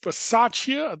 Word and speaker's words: Bisaccia: Gruden, a guy by the name of Rich Bisaccia, that's how you pronounce his name, but Bisaccia, who was the